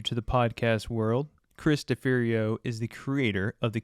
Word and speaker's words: Deferio: Deferio.